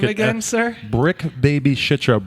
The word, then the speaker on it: Bricc: Brick Baby Shitra. Brick is spelled BRICC.